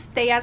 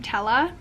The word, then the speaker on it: Tella: So, okay, you do pronounce Thea's name Tella, and I have been saying Thea the entire time, again, because, you know, the Latin accent.